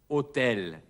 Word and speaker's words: hôtel: Im Französischen wird dieses H nicht ausgesprochen. Es heißt also Hotel.